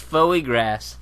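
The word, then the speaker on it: foie gras: tested pumpkin s fagra it's pronounced fo grass fagra it's clearly Foy grass let's look at the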